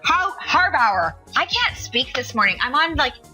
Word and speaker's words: Harbauer: it how do you say your last name harbauer harbauer I can't speak this morning I'm I'm like